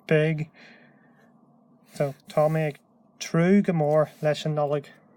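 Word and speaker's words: tnúth: Rather than using the word dul, we've got this word true. True. And this N here is pronounced like an R.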